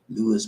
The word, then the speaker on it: Luis: It's called Luis, Luis, Luis. That's how they pronounce it, Luis.